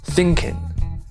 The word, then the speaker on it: thinking: now you'll find that most Southerners will not even pronounce the G when they're speaking informally for example thinking however if you want to speak proper British English then the G has to be present but just don't ring